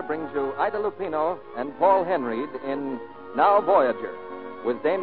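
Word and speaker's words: Paul Henreid: in many a day he pronounces his name Paul Henry he and ID Lupino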